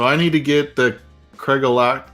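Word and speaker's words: Craigellachie: All right, so I need to get the Craig-Alachi. How do you say it? Craig-Alachi? Craig Alecky. Just think of Craig Craig and Alecky.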